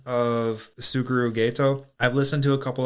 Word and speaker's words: Geto: Just the pronunciation of Suguru Gato. I've listened to a couple other people talk, and some people called it ghetto, like The ghetto. like they lived in the ghetto, but it's Gato.